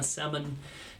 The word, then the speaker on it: salmon: I like to say salmon because it's obnoxious. I'm a big fan of sounding out silent letters. Nothing wrong with that. Just letting everyone know there is an L in there in case you forgot.